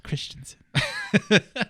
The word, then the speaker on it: Christensen: gonna have edwin mcgregor and i'm holding and pronouncing this correctly steven christensen christensen christiansen is it christensen it's christensen but he's going to be some people he's